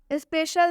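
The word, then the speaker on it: special: जैसे सिटीजन में सी का उच्चारण स हुआ है, केबल में सी का उच्चारण क हुआ है, स्पेशल में सी का उच्चारण तलाबे श हुआ है।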